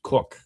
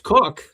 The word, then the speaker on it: Koch: And then you got Cardinal, Monsignor says he's pronounced Cook, but I actually, it was funny.